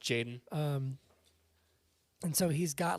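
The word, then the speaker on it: Tjaden: Isn't it Jaden? Just Jaden? Just Jaden. With a T at the beginning. Yeah. But I think it's pronounced Jaden.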